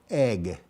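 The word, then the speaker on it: Eigg: And so this is wind turbines on the island of Egg, which is spelled E-I-G-G.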